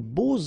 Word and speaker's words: beaux: And here it's quite interesting because even if you've got this X, well, phonetically it will be like Z, so like if it would be an S, okay?